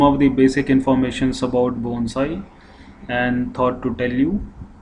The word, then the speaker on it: bonsai: So it should not be pronounced like bonsai or banzai. So it's, as the word you can see, it's bon and sai. So it should be pronounced bonsai.